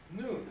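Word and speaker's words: נון: spelled in with letters so you have an N sound a you sound and an end sound that's noon so it's spelled n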